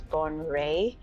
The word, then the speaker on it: Bonwire: When you look at the spelling, it reads Bonwire, but apparently it's Bonwire.